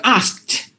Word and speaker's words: asked: these words are just the Ed is pronounced just like the T but here this e d is pronounced like the T so you have to say I'm sorry so asked clicked kicked looked booked and crossed dressed uh rushed you have to give the T sound or just to give